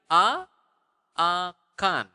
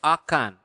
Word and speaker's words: akan: How do you say will in Bahasa? Akan.